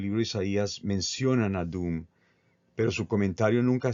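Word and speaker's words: Duhm: Y esto viene más o menos del autor alemán Bernhard Doom, que escribió un comentario muy influyente allá por finales del siglo XIX.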